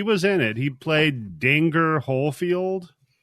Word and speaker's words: Dinger: in it he played danger whole field his name's dinger what d-i-n-g-e-r pronounce it Danger Corey Feldman's in